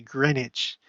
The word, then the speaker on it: Greenwich: Royal Museum's Greenwich there I I pronounce it the right way Greenwich uh because you know English how often does a